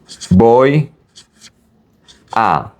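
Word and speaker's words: voy a: You basically merge these two.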